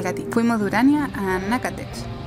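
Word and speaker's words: Natchitoches: Fuimos de Urania a Nacatech. Se escribe Nachitoches, una pequeña ciudad.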